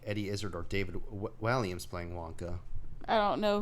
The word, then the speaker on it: Walliams: David Walliams. I Oh. don't recognize any of his work. You were pronouncing his name right.